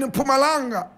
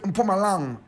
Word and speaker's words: Mpumalanga: In fact, the indigenous South Africans born in Mpumalanga, they pronounce it Mpumalanga. Mpumalanga. My brother, my sister, our hero for today, Sam Nzima, was born in Mpumalanga.